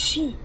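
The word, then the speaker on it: 四: The number four is pronounced she as the same as the word connected is considered very unlucky.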